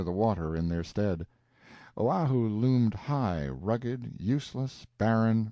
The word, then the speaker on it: Oahu: this group of islands Oahu and Molokai pronounced oh wow who and Molokai on the